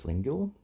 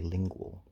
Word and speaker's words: Lingule: And I believe I was pronouncing it as Lingule, but I believe I saw it written in IPA somewhere, and it's actually Lingual.